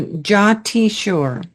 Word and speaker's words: Jatiswar: saw I saw your reference to that so jti sure jti this simple word or single word expresses